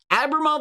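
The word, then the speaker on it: Abramov: you're a bra mom I'll say his name properly a bra there is no end in there but it feels like there should be an in in there Abramoff looks like a pretty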